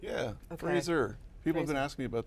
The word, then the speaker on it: Fraser: four years so it's it's Fraser like the thing you stand close to to get a close shave okay we had to